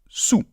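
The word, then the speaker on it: soûl: Saoul, Non, on dit tout simplement sous. Voilà, comme sous la table, d'accord?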